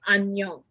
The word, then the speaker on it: 안녕: Like ang, yong. Just like A-N. An. And then yong. Yong. An. Yong.